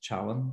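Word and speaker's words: Källén: by Sidney Coleman saying it should be pronounced Challen. So I'm going to say Kallen, but I think I may be incorrect stating it that way.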